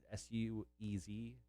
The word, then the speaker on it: Suez: your favorite thing the uh how do you pronounce it this weight s-u-e-z swayze canal oh suez yeah it's uh it has